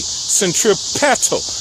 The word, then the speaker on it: centripetal: Vortexes that are entering the earth move in a counterclockwise fashion and is known as centripetal force, spelled with a P, centripetal, like pedals on a bicycle.